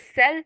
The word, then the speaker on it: cell: It must be very surprising why cell is sounded with S, the S sound, and coal is sounded as the K sound.